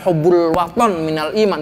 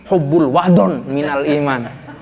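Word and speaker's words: حب الوطن من الإيمان: Kalau anak zaman sekarang bacanya salah itu Pak Dokter. Bukan Hubbul Waton Minal Iman, tetapi Hubbul Wadon Minal Iman. Jangan salah ini Pak Kiai, jangan salah. Waton pakai to, bukan pakai dod.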